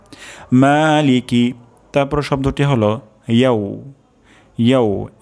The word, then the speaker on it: مالك: প্রথম শব্দটি হলো মা, অর্থাৎ এখানে এক আলিফ পরিমাণ টান হবে। তারপর শব্দটি হলো লিকি, লিকি এখানে টান হবে না, দ্রুত পড়তে হবে। লিকি মালিকি মালিকি মালিকি।